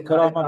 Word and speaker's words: Karama: So Karama gets very annoyed when everyone misspell her name or mispronounce her Karame, name. they say So Karame. please try to know the exact spelling of Karama, because it means dignity in Arabic. Karama means dignity. Try to spell it, or pronounce it right.